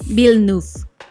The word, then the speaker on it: Villeneuve: Villeneuve. Okay, yo soy pésimo pronunciando.